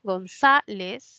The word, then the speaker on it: González: noos se tildan Sí esta es una grave González no tildo mía luego